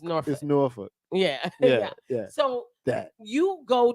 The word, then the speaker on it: Newark: from No She from nor hey look excuse me let me rephrase that for those folks outside of the state Newark we say we say nor he don't even he